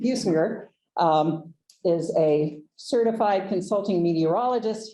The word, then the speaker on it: Businger: I forgot to ask, Businger? Very good. Okay, not a soft G. Businger is a certified consulting meteorologist, hence our little weather report, if you caught that before we got started.